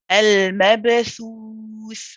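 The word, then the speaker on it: المبثوث: And when we stop on this last tha, when we say al-mabthuth, that last tha, we're pronouncing sakin. So we stay on it and we prolong it.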